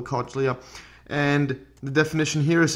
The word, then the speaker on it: cochlea: coach Lee a or I believe it's the pronounced cochlea or a copy I'm gonna call the cochlea and the definition here